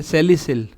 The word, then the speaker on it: salicyl: लगा है तो वर्ड यूज किया जाता है सेलिसिल। क्या करते हैं? सेलिसिल।